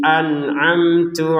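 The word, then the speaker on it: أنعمت: An'amtu harus berbeda antara hamzah dan ain ya. Hamzah tenggorokan bawah, ain tenggorokan tengah.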